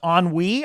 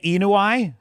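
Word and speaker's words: ennui: Pronounced an onwe. I pronounced it incorrectly. Starfury. Did I say enui?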